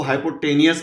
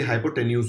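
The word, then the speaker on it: hypotenuse: बहुत लोग इसको हाइपोटेनियस बोलते हैं, इसका प्रोनाउंसिएशन जनरली हाइपोटेन्यूज होता है।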